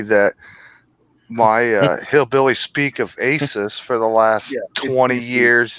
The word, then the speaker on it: Asus: He's informing me that my hillbilly speak of Asus for the last 20 years is Asus. It's Asus. Asus. Oh, okay. It's like Jesus.